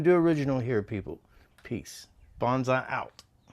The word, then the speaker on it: Bondseye: I know when people say, check out Bonsai 66, you think it's spelled BONSAI or BONZAI. BONDSEYE. My last name is Bond. Added S. I build stuff with my eyes.